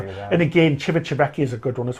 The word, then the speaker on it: Civitavecchia: My favourite is Kadarsee, and least favourite is Civitavecchia. I pronounced it right. Civitavecchia.